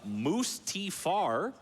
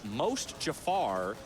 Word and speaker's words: Mustafar: That says Mustafar is pronounced like most Jafar, said with a strong Canadian accent. So it would be most Jafar.